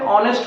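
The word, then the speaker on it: honest: यहां पर H silent है, ऑनेस्ट होता है।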